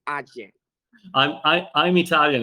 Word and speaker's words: AJE: you got it it's ajay i i'm italian it's easy for me i just i just pronounce it the way it's written tell me all about